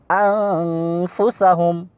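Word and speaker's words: أنفسهم: আনতুম, তারপরে কুনতুম, মাসালুহুম, মাসালুহুম, মাসালুহুম, তারপরে এটা আনফুসাহুম, মূলত এটার উচ্চারণ হবে আনফুসাহুম।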